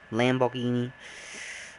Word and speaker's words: Lamborghini: um lamborghini sorry lamborghini lamborghini la lambeau it's lambo it's in english it's lamborghini lamborghini but uh in italian at least the italian way is lamborghini lamborghini mamma mia sorry yeah